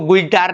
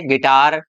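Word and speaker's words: guitar: इसको गिटार नहीं बोलेंगे, इसको क्या बोलेंगे? गिटार, गिल्ड, रोग, गार्ड, लीग।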